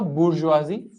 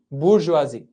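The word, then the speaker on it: bourgeoisie: One is the bourgeoisi and yes this is how you pronounce it. I guess please pronounce it as this only bourgeoisi.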